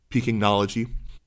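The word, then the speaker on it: Pekingnology: n o l o g i g y pinology Tian Wong was here in Zurich I understand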